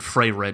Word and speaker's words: Frieren: No, because it is spelled I-E, not E-I.